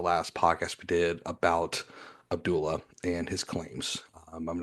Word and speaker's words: Abdullah: Yeah, Abdullah.